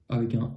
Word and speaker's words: eu: exception à ça c'est le participe passé de avoir qui on a e u mais ça se prononce u comme s'il y avait vraiment que la lettre U ici c'est la même chose c'est une autre forme de avoir mais on va aussi prononcer u ok ça c'était pour